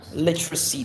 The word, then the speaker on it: literacy: The letter C will sound S not C. Write quickly. Is that or le? Okay. Speak louder. Again literacy that is literacy.